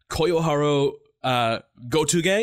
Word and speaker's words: Koyoharu Gotouge: So anyway, Demon Slayer is written by mangaka Koyoharu Gotouge. Is that how I pronounce that, Anna?